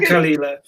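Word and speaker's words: Caol Ila: No, apparently it's called Caolila.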